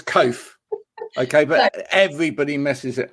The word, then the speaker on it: Coath: surname wrong this one say cough or is it oh cough yeah it's it's cove okay but everybody messes